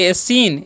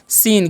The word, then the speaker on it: scene: उसी प्रकार से यहाँ पर लिखा हुआ है SCENE, तो इसे हम क्या पढ़ेंगे, एसीन, एसीन नहीं पढ़ना है, इसे सीधे पढ़ना है सीन।